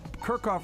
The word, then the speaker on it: Kirkhoff: Well, no, Kirkhoff rhymes with jerk off.